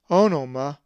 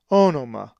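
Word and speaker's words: ὄνομα: If you said onoma, you are correct, for the accent is over the first omicron, onoma.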